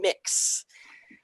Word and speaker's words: Mx: it's pronounced this is an x-ray and accents pronounced mix um that's very new to me i just